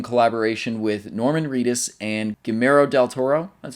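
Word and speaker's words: Guillermo del Toro: developed it in collaboration with Norman Reus and gimo Del Toro that's how you pronounce his name gimo Del Toro that's how that's how you do it they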